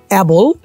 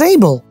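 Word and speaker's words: able: যেমন প্রথমেই ছিল অ্যাবল, বা দ্য প্রোনাউন্সিয়েশন ইজ এবল।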